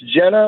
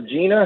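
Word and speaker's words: Genna: Yeah, it's Jenna or Gina, however you want to say it. It's spelled with a G, G-E-N-N-A.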